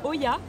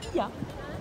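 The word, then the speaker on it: Oia: On a commencé par Oya, mais en fait, qui apparemment se prononce Ia.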